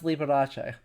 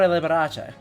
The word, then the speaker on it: Liberace: Okay, yeah, no, his father is Salvatore Liberace. Yeah. Okay, absolutely pronounces the E on that.